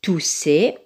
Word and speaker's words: tousser: On a doublé la lettre S, deux S. Donc, quand il y a deux S, il se prononce S. Donc, tousser, on le met dans la case de la lettre S.